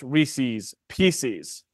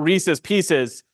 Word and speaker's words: Reese's Pieces: for the the conviction that it's pronounced Reese's Pieces not Reese's Pieces because you know you have to make it rhyme so silly convictions but